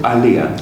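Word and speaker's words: Aaliyah: Well, thanks for talking to me about how do I pronounce it? Aliyah.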